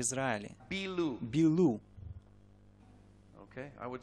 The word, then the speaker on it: Bilu: Bilu. Bilu. Okay, I would spell it in English B-I-L-U.